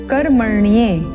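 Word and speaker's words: कर्मण्ये: विशुद्ध उच्चारण सीखते हैं पंक्ति कर् मरणीय यहां पर ध्यान देंगे ण का जो उच्चारण है वह स्पष्ट करेंगे कर् मरणीय और यहां पर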